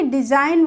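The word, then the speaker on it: design: पर जी आया तो हम इसको क्या बोलेंगे डिजाइन बोलेंगे ना कि डिजाइन ऐसे तो नहीं बोलेंगे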